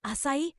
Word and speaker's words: 浅い: A word asai, pronounced asai means shallow in English.